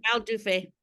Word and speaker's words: Raoul Dufy: Yeah, Raoul Dufy.